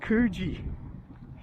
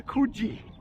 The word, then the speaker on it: Coogee: But anyway, I said I lived at, I mentioned Coogee, and they immediately corrected my pronunciation. It says Coogee.